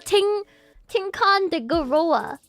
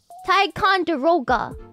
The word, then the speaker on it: Ticonderoga: You know, a Tinkan de Goroga. Goroga? Tinkan de Goroga. You know that pencil brand? How do you pronounce that pencil brand? Taikon... Ticonderoga.